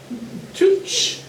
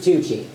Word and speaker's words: Tucci: Tooch. Hey. I believe it's pronounced Tucci.